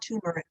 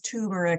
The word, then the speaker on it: turmeric: root is called turbine not tumeric everybody says turmeric or turmeric okay but that are